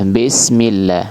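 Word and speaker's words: بِسْمِ: Bismillah. Bismillah. yang benar bismillah ya disempurnakan harakat kasrahnya ya vokalnya vokal huruf i bi sempurnakan kasrnya binifadin lil fiami dengan cara menurunkan rahang rahang bawah ya begitu juga mim millah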